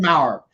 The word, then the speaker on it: Mauer: guest today is maurer did i pronounce that right you did perfect it rhymes with powers that's all you got